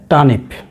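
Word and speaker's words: turnip: শালগমের দুটি ইংরেজি প্রতিশব্দ হলো এক টানিপ, টানিপ, খেয়াল রাখবেন আর উচ্চারণ হয় না, আমি আগেও বলেছি টানিপ।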